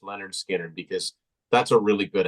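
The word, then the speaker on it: Lynyrd Skynyrd: that would have been in the top 15 pronounced Leonard Skinner because that's a really good album that's got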